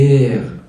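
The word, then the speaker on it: matière: ماده خام مات مات بص بقى الا عليها شرطه يمين بتتنطق ايه بتنطق ايه تمام كده ايه عاديه ايه انت عاوز مني ايه انت بتكلمني ليه طيب شرطه شمالن ايه بتمد فيها يعني ماتي ماتي ماتي ماتي ماتيير ماتيير ماده خام وتنفع ماده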